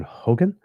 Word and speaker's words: Hogan: I always have to make sure that I pronounce his name correctly, because there was the former premier of not Nova Scotia, British Columbia, I think, who was John Horgan. So just one little difference between them.